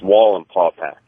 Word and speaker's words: Wallenpaupack: It's Wall and Pawpack. Okay. Thank Not you. the way you said it, Adrian. Yeah, sorry. Yeah. I can't even repronounce how the hell you pronounced it. Wallenpaupack?